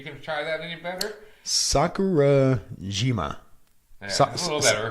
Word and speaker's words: Sakurajima: Sakurajima. Yeah, a little better. Sakurajima volcano.